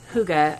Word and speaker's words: hygge: So people have wondered, what is this word hygge? How do you say it? Is it hygge? Are you getting hygge with it? It's hygge, according to this author.